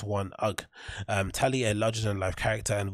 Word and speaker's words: UGG: Oh, is it UGG or UGGs? It's UGG.